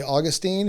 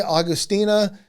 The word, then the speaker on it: Augustine: You are not right if you say Augustine. You are not wrong or right if you say Augustina. There's just no way for us to know how he pronounced his name.